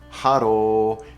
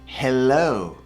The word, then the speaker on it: hello: proper pronunciation of hello so it's not haro it's hello hello hello okay so